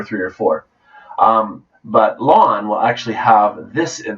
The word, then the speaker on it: ln: logarithm the way you the way you say it is lawn kind of like your uh like your front lawn like I need to